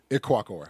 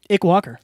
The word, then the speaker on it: Ikwuakor: Ikwuakor. Like, it's like Ick and then Walker. Ikwuakor. Ikwuakor.